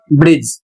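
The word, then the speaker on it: bridge: उदाहरण देखिए बी आर आई डी जी ई इसको पढ़ेंगे ब्रिज। यदि इसके अतिरिक्त कुछ पढ़ते हैं तो गलत है।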